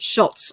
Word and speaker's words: Schulz: They always pronounce it Schultz on his, but there's no T in his name, Schulz.